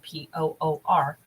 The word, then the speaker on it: Purim: And he did give a little information about Purim, and that's spelled Purim, but it's pronounced like Por, Poor.